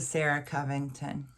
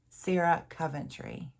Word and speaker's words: Sarah Coventry: And that is a Sarah Covington, or Coventry. Sarah Coventry. I'm adding an extra syllable to her name.